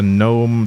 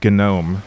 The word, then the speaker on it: GNOME: Sorry, gnome. Not gnome. It's very important to uh pronounce gnome correctly. It's not a garden gnome.